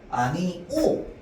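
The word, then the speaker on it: 아니오: 아니 오도 마찬가지야. 아니 오 이게 원칙 발음이야. 얘는 뭔데? 허용 발음입니다.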